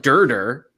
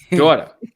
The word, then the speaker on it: daughter: It's not Durder. It's daughter or daughter.